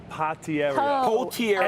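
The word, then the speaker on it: Potieria: It's not a pot. It's a po. Potiera.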